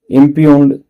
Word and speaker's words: impugn: करना, चैलेंज करना, इम्पंजेंट, Impugned. इम्प्यून्ड है, इम्प्यून इसका प्रोनाउंसिएशन है।